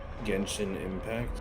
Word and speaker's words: Genshin Impact: Genshin Impact?